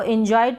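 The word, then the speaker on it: enjoyed: यहाँ पर ये है एन्जॉयड, इसको एन्जॉयड पढ़ेंगे। यहाँ पर ये जो ओ आए है ऑय करके पढ़ेंगे, इस ओ को ऑ पढ़ेंगे, और इस य का उच्चारण आधा होगा, ठीक है, एन्जॉयड।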